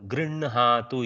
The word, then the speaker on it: गृह्णातु: बहु सम्यक् उच्चारणं कृतं गृह्णातु इति एतद् गृह्णातु इति यद्यपि लिखितरूपं तथैव दृश्यते नास्ति तत्र बहु क्लेशः यदि गृह्णातु इति भवन्तः वदन्ति परन्तु अभ्यासे एतस्य मुखाभ्यासे गृह्णातु इति नकारस्य प्रथमप्रयोगः मुखे तदनन्तरं हकारस्य भवति गृह्णातु इति